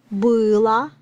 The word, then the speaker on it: было: Because O is not stressed it sounds like A.